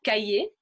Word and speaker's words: cahier: So there are a few other exceptions of words that we would also pronounce in a similar way of E and not ER, comme un boulanger, un boucher, a butcher, un cahier, le premier, the first.